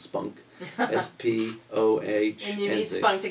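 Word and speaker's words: SPOHNC: with people with oral and head neck cancers pronounced spunk is p.o a spot to get through this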